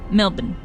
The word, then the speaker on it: Melbourne: Melbourne. I need more steel. Like that, but extend the N.